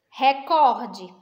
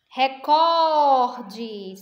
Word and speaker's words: recorde: tônica da palavra o recorde a sílaba cor né recorde tivesse o acento não é Record Então seria o re mas aí no caso é cor né Essa palavra classificada